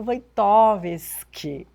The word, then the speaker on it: Wojtowicz: Nem sei o que falar, mestre, doutor, filósofo, professor, meu querido doutor Wojtkowski. Pronunciou corretamente o Quantos meu nome, né?